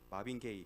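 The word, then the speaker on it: Marvin Gaye: 마빈 게이, 그 동성애 게이랑 발음 비슷한데 철자가 좀 다릅니다.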